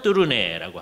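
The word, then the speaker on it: Tournai: 불란서로는 뚜루네라고 하고요. 화란 말로는 도르닉 그리고 피카드어로는 또르나이라고 하고 왈룽 번역으로는 또르네라고 해요. 왜 또르네라는 말이 더 일반적이냐?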